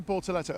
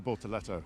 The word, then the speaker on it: Bortoleto: And finally, one of the other rookies in Formula One this year, it's Gabriel Bortoleto. Am I not pronouncing Gabriel? Is it Gabriel Bortoleto?